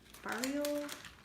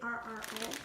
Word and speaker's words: farro: Italian barrio grains. I'm not sure if I said that right. It's Farro.